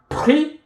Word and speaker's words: pris: If you have pris, the S is silent.